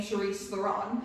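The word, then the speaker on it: Charlize Theron: Like, listen, if Charisse Theron went off and did that, I don't care because she now pronounces her name Charisse Theron.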